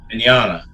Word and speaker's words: Vignogna: And he said, "When his parents came to States, right, Vignogna." I love it. Yeah. It's the GN combination. Yes, makes the nya sound like lasagna.